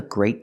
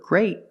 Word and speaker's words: great: But the word great has a t and we pronounce it with a stop t.